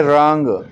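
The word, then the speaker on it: wrong: फिर है रॉन्ग, इसमें W साइलेंट है।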